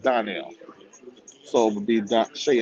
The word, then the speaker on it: Darnell: It's spelled Darnell, but it's pronounced Donnell.